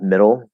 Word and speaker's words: middle: Same thing with middle, spelled with D's, but it's still flat D.